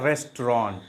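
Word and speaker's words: restaurant: तो वर्ड बनता है रेस्टोरेंट, रेस्टोरेंट। चूंकि ये 2 सिलेबल का ही वर्ड है इसलिए इसको रेस्टोरेंट बोलना बिल्कुल गलत प्रोनाउंसिएशन है, बिल्कुल गलत है।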